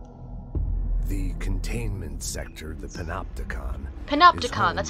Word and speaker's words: Panopticon: Panopticon, that's how you say it.